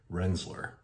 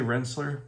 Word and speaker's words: Rensselaer: that is accepted or I've even heard locals who've lived there for 50 60 years they've come up with renzler almost a z on the s's there and that is also appropriate or accepted in that area so there's three ways you can say that you're from this area if you say Rensselaer you're probably going to be accepted pretty well here but if you want to be more like a local wrestler next traveling across is